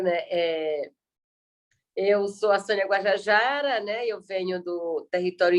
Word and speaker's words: Guajajara: Me corrija a pronúncia, Sônia Boni Guajajara.